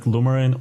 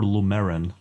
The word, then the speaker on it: Lumerin: Is it Lumerin or Lumerin? So I say Lumerin. Some people say Lumerin and stress the E.